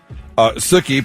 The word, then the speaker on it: Sookie: Sookie, pronounced like cookie, after Sookie Stackhouse from the show True Blood.